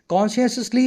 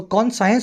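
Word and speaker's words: conscious: में कौन लगाया तो कौन साइंस बोल दो और सही प्रोनंसिएशन है कॉन्शियस तो कॉन्शियस मतलब आपकी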